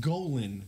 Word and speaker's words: Golan: fox cartoon Goan the insatiable Unforgettable it it's pronounced Golan the insatiable Silverstein and jesser shared a lot